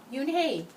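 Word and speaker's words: Unhei: Kim and then turned to Joey yes it's pronounced you and hae and it means grace said mr. kim yu-na joey said slowly this time he said it perfectly you and hae it made you hey smile I'll have it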